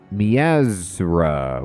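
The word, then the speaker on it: Miazrqa: Mier MIAA mipi marzipan oh it's mezra with a silent Q oh I see that's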